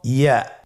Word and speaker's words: ইয়া: পরবর্তী হরফটির নাম হলো ইয়া। পরবর্তী হরফটির নাম ইয়া। পরবর্তী হরফটির নাম কি? ইয়া। ইয়া হরফটি উচ্চারণের ক্ষেত্রে বারিক হবে এবং 1 আলিফ টেনে পড়তে হবে।